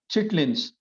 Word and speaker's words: chitterlings: Louisiana's Cajun country, where alligators roam the bayous, is well known for its regional cuisine of gumbo, jambalaya, red beans, and chitterlings, often pronounced chitlins.